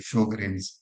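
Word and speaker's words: Sjögren: So this is typical of what we call as the Sjogren's syndrome. As you know, these are connective tissue disorders. Sjogren's, and people can spell it whatever, Sjogren's or whatever.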